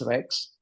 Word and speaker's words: RX: right so that's that's if you actually pronounce R and X put together it's Rex and it it so